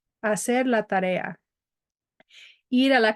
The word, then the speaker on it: hacer: Do not pronounce this H. Hacer la tarea.